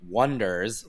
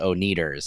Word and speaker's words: Oneders: And you know, they come up with the Wonders like the number one and that's spelled is spelled spelled out. And then, you know, for the first half of the movie everyone uh mistakenly calls them the Oneders.